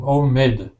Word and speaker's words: homemade: word for me again remember in english the letter h is not a silent letter it says so it's homemade homemade homemade home perfect